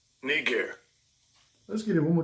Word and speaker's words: Niger: the blue letter says right strong G 3526 KNE gear KNE gear let's get it one more time strong G